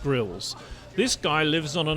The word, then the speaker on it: Grylls: Well, the Americans call him Grillis. He's actually pronounced Grills.